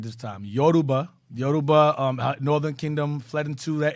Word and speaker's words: Yoruba: Yoruba, Northern Kingdom fled into the area and so forth.